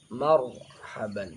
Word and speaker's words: marhaban: urutan yang pertama ini bacaan tafkhim sambil dijelaskan karena ro sukun di sebelumnya fathah Marhaban jadi bacanya marhaban dicontohkan dengan baik oleh pendidik